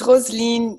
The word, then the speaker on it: Rosaline: So am I saying it right, Rosaline, or is it Rosaline? It's Rosaline.